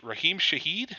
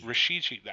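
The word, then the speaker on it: Rashid Shaheed: fine with me um Raheem Shaheed they say his name Rasheed I don't own a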